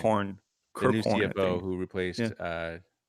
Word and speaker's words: Kirkhorn: I can't remember how to pronounce his last name. Kirkhorn, The new Kirkhorn, I CFO think.